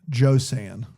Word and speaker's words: Josann: rhymes with Joanne, Josann. Josann Josann Josann McGibbon.